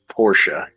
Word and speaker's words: Porsche: with us um well uh technically it is Porsche it's not just fancy that is how you pronounce it well you have to be sure